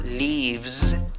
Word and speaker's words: leaves: The tour leaves, acaba con S, la escritura, la pronunciación es con Z. The tour leaves from the lobby.